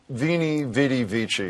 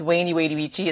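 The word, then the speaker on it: Veni, vidi, vici: Well, you're kind of pronouncing it wrong. It's actually, it's Wainy Wadey Vici. That's what I meant. The V is a W.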